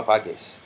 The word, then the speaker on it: apagues: Same thing with the verb apagar, where all GAR verbs, it changes to GU to protect this hard G sound. Apagar, apago, no apagues.